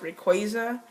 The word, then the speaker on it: Rayquaza: Now, a lot of things that I don't agree on, I hear, you know, Rayquaza, it's supposed to be pronounced Rayquaza, which people say that's stupid, but that's the way I believe it's.